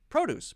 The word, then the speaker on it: produce: Two-syllable noun, stress the first syllable. Two-syllable verb, stress the second syllable. Object, right? Subject, subject. Produce, produce.